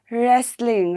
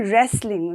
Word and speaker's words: wrestling: in wrestling we say wrestling right we don't say wrestling right w will remain silent and it will be only wrestling okay the spelling will